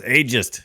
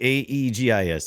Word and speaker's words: Aegis: That's ageist. Don't say ageist defenders. I'm defending the Aegis. It's actually Aegis, so I Isn't believe that it is Aegis?